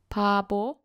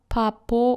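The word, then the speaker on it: 바보: This word is pronounced as pabo, not papo or babo, okay?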